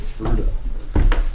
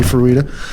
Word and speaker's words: Fruita: I always, I mean, if you go by the phonetic spelling of it, and the Spanish pronunciation would definitely be Fruita.